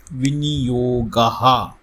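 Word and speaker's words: विनियोगः: Let us see how to pronounce Viniyog. Viniyogaha.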